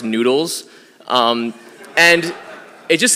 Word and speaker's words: GnuTLS: Because it's spelled GNUTLS, but it's supposed to be pronounced noodles.